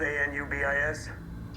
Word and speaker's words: Anubis: Spelled A-N-U-B-I-S. Uh-huh. It's pronounced Anubis.